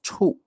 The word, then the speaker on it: 处: So now I'm going to introduce you another pronunciation, and that is 处，四声 the fourth tone.